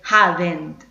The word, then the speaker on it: hadn't: Y siempre es importante recordar que en esta parte de la palabra no tenemos el sonido de la E. No se dice hadn't, sino que se dice hadn't. Esa es la forma correcta de pronunciarlo.